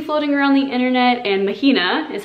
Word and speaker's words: Mahina: name to see floating around the internet and mahina is how you pronounce it that is actually my middle name